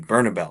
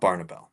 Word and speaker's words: Bernabel: Bernabel, not Barnabel.